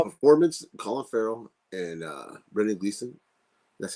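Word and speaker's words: Brendan Gleeson: no no no performance Colin Farrell and uh Brennan Gleason that's how you say it right yes great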